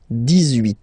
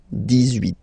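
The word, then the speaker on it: dix-huit: So you will make this little link between the two, the liaison. 18, 18, 18.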